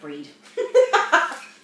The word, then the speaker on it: breathe: But again, we cut off the TH and it sounds like a D. Right. Breathe. We spell it with the TH when we write it out. Yep. But when we speak it, sounds like breed.